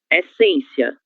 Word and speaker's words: essência: Essência, sílaba tônica em. Temos o nosso acento circunflexo nessa sílaba.